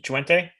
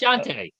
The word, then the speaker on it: Shante: Chuente, Oh do you not say yeah, that? absolutely. So what's that? Who? Do you not say this name Chuente? Am I saying it right? Oh, Uh, that's Shante. Yes.